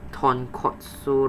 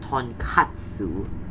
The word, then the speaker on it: Tonkotsu: Kotsu and katsu basically mean different things. Nick, can you please say it properly? It's supposed to be tonkotsu, not tonkatsu.